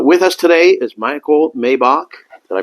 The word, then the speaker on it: Maibach: So with us today is Michael Maibach. Did I pronounce that correctly?